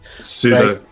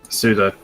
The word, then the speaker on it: pseudo: Pseudo. Pseudo. The P is silent.